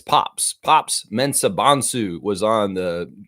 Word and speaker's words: Mensah: Mensah Bansu was on the G uh Great Britain team in the London Olympics. Uh mostly you didn't the the U on Mensa is an A. Mensah, not Mensah.